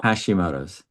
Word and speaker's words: Hashimoto's: Hashimoto's.